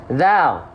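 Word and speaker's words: ذ: Nih, zal. Ya, yang ini itu dilafalkan sama seperti sa, yaitu bukan digigit, tapi apa? Ujung lidah kita disentuhkan tipis-tipis ke ujung gigi seri atas.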